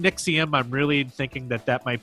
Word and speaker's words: NXIVM: However you want to pronounce that. We're saying Nixium.